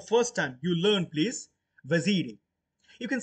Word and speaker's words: Vaziri: vaziri you can say you can say for the sake of your pronunciation it can be vasirae it can be vasire it can be vasirae or wazid but not bhasi because thus at the end e is there so it's vaziri or vazar the name of